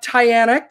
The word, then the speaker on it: Tyana: So we have Tyana Kelley. And the way I learned how to pronounce her name correctly is it rhymes with Diana.